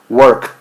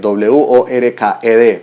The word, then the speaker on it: worked: Worked. Si yo lo escribo con la ED, W-O-R-K-E-D, pero yo no puedo pronunciar worked porque es una pronunciación incorrecta. Tengo que decir worked.